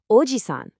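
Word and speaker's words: おじさん: A grandfather is ojiisan with a long e sound, and an uncle is ojisan with a short i.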